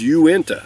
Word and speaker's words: Uinta: pronounce this and i was correct it is uinta that's how you pronounce it and what this is uenta is